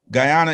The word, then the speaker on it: Guyana: i wanted to ask you about is uh guyana right that am i saying i'm saying it right right yeah guyana is it's not a lot of um i